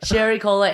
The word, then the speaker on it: Sherry Cola: Sherry Cola Areola. That's what I'm really proud of, that it rhymes with areola.